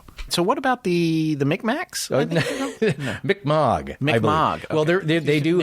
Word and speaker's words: Mi'kmaq: No, but I've heard it generally pronounced Mi'kmaq.